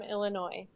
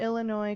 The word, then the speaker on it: Illinois: the original was from Illinois uh Chicago I think see and you say Illinois corrects cck how do you say the word Illinois yeah everyone pronounces the S and you're not supposed to people do that people